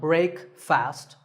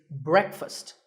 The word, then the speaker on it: breakfast: would you say it the proper pronunciation is not break fast it's breakfast brick with a short a sound and fussed with